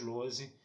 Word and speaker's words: Lohse: Meu canal no YouTube é o Carlos Eduardo Lose Rezende. Lose se escreve Lohse, Rezende se escreve com Z.